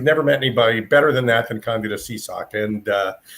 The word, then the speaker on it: Candida Seasock: Her name, and I'm going to teach you how to say the name. Okay. It's Candida Seasock. Or Candida, but Candida it took me about a year.